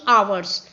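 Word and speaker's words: hours: been reading from three आवर्स S silent होता है इसलिए हम आवर्स पढ़ते हैं आ मींस घंटे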